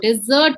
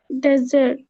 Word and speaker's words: dessert: डिजर्ट्स, डेजर्ट नहीं होता है, Ma'am, डिजर्ट होता है। dessert. डेजर्ट तो होता है सहारा डेजर्ट और थार डेजर्ट जो हमारे राजस्थान में है, थार। डेजर्ट Yes. नहीं होता है, डिजर्ट।